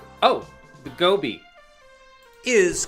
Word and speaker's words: Gobi: Rhymes with Kobe. Oh, the Gobi.